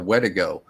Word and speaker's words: Wendigo: Is with the wendigo or the wedigo, as it's pronounced by the Algonquin people or the Cree.